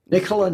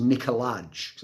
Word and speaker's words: Nikolaj: So if you see it written, it looks like it should be pronounced Nikolaj, as a J at the end. But actually, phonetically, you pronounce it Nikolaj.